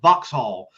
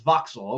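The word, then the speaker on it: Vauxhall: I pronounced it first boxhall because there's a H and he's like, "Oh, we don't pronounce the H."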